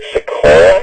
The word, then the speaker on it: Sequoia: We've got from Champlin, looks like Sequoia. If I'm pronouncing that wrong, I apologize. No, you're pronouncing it correctly.